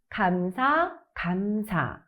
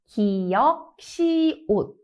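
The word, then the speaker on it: ㄱㅅ: When reading, it's pronounced as 감사. So it would be 감사, 감사, not as the sounds of the consonants 기역, 시옷.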